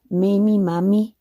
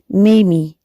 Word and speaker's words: Mamie: you pronounce the name mamiemami same as jamie but with an m i love to read i love to read what name is mommy a nickname for pink mommy mamie eisenhower is mimi or